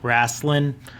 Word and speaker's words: Raistlin: twins Caramon and Raistlin rasslin exactly how the authors want to pronounce it they're a warrior and